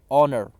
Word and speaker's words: honor: Underline the word honor. You will have to pronounce that word as honor. H is a silent, you will pronounce it as honor.